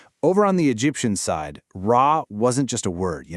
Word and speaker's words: Ra: Interestingly enough, while we all say Ra today, linguists actually believe its original New Kingdom pronunciation was probably closer to Ria or Ri, which eventually evolved into the Coptic Ri.